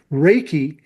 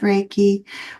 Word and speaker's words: Reiki: Reiki, uh, spelled R E I KI. And I would phonetically spell it r a y-en ke.